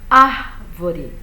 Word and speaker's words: árvore: de vender a palavra olha árvore eu seguro mais no ar então essa palavra tem a sílaba tônica dela é a antepenúltima não é a última não é a penúltima é a antepenúltima árvore então me importa o